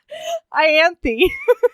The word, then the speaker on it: Ianthe: I knew as soon as I said it that there was going to be a better pronunciation over in New Jersey. What is it? Ianthe.